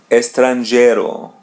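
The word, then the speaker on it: estrangeiro: Estranero. Let's spread this word into two parts. Estranero. Estranero. As you see there's the letter E or A in Portuguese. We pronounce it as e.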